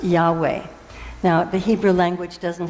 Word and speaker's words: Yahweh: He had found the name of God, which is in the Hebrew teachings, and was spelled in Hebrew YHVH, which is pronounced Yahweh.